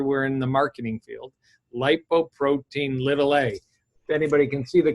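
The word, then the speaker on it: lipoprotein(a): in the marketing field lipoprotein little a if anybody can see the cover of the book the word little isn't there it's lowercase a but that's how it's pronounced scientifically lipoprotein little a you could ask your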